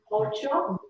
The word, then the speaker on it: ocho: 8 is ocho. Ocho. Ocho. So the accent's here on the first O.